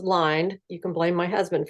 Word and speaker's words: Lynde: I don't care but everybody pronounces my name the way you did it's actually pronounced lined you can blame my